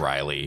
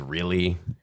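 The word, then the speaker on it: Reilly: same deal my last name is Riley but people always how do you spell it r e i l l y but people spell it wrong every time and yeah and French people say it as really oh really I'm like yes really it's Riley too too confusing that's their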